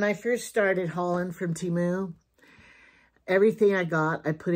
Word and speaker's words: Temu: But somebody told me that they talked to the Temu people and they said, how do you pronounce it? And that's T-T-A-Mu. Temu.